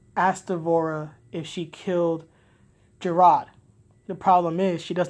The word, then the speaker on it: Jerrod: present like oh it's Jerrod I'm like okay because she's not saying Jerrod she's saying Jared or Jarek which confuses me announce e8 the guy's name is Jerrod King Jerrod say it properly especially when you